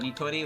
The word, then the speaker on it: Nitori: You call it Nitori, which is correct, but Notori is what sounds natural.